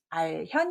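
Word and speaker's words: 알현: 한 번 연습을 했는데요 답은 아현 입니다 여기 뒤 짜 때문에 났습니다 볼겸 만 하시면 안됩니다 배울 현자 입니다 알고 여기도 제가 볼 견 이라 밴 않네요 배울 현 인데요 윗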